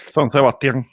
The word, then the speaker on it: San Sebastián: How do you pronounce that? Sebastian? San Sebastián.